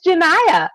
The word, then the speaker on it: Janiyah: It's Janiyah, like Shania Twain.